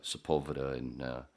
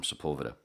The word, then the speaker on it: Sepulveda: We're walking east away from Sepulveda, which a lot of people like to pronounce Sepulveda. Yeah. I was one of those idiots when I first moved there, of course.